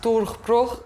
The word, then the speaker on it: Durchbruch: And it's actually pronounced Durchbruch. Well, you know, Durchbruch.